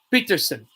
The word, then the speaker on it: Pettersson: For example, actually, everybody says Pettersson still, and Elias has said himself his name is pronounced Elias Peterson.